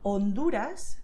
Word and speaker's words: Honduras: Then, if you see the letter H, you know that H is silent in Spanish. So you should write it, but you will not say it aloud. So it has no sound. You say Honduras, Bahia.